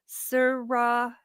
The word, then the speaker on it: Sriracha: Okay, now we've got a pronunciation here from Brian. It says sriracha.